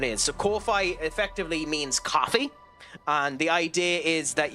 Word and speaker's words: Ko-fi: to a cup of coffee. It's more or less the idea, if you get me. So it's actually pronounced coffee than Kofi, but that's the idea of it.